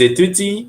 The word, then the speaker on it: étudient: A mesma pronúncia do singular, só que agora com ENT no final. Ils étudient, elles étudient.